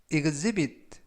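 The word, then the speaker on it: exhibit: 이것의 b 이건 세비 이건 세빗 라고 발음 하시면 되겠구요 이 때 유의하실 점은 a 취 가 묵음 이라서 이번 단어에서 는 발음이 되지 않습니다 그리고 ex 가 이 거즈 이거 스 발음이 나고요 품사는 명사 뜻은 전시회에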